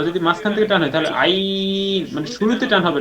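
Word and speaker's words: عين: একটু ভিন্ন রকম যেরকম আইন কলার ভিতরে নিতে হবে টানও দিতে হবে আইন এই যে এটা আইন আইন আইন আ টান দিয়ে টানটা শুরুতে হবে না মাঝ থেকে শেষ পর্যন্ত হবে আইন আই আইন হইছে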